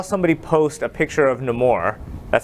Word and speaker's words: Namor: But when I was on Facebook and Instagram, I saw somebody post a picture of Namor.